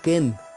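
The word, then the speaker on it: קֵן: E acá en el nido, el nido que aparece de esta ave de rapiña se pronuncia como ken.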